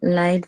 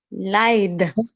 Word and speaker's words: Lied: Hast du schon das neue Lied von den Toten Hosen gehört? Ja, schau mal, was ist das hier?